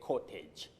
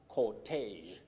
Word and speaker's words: cortege: This word is pronounced as cortege, cortege, cortege. It's derived from that is it originates from French.